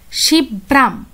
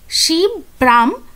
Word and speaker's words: শিবরাম: করতেন তো এখানে দেখো উনি নিজের নামটাকে এইভাবে উচ্চারণ করতেন শিব ব্রাম শিব ব্রাম চকরবর্তী চকর্বরতী ঠিক আছে তো সেই জন্য